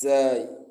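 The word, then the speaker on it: زاي: It should not be pronounced as sin or that. No, it's zai, and that's why some people recite the Quran saying a'udhu, a'udhu.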